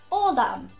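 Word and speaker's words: Ádhamh: man was adam but adam in ireland would be all them spelt the dh god irish people love to throw in a h he could also be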